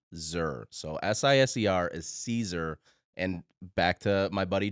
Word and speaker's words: Siser: pronounced so siser is Caesar and back to my buddy Joe uh who's done a ton of content obviously for Caesar it's like the salad Caesar like the salad and the name simply